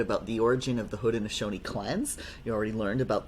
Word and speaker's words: Haudenosaunee: So we'll be learning a little bit about the origin of the Haudenosaunee clans.